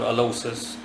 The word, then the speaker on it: Alloces: alocis or alas or alosis I'll simply be using the former I'll Simply Be pronouncing it alosis uh he is a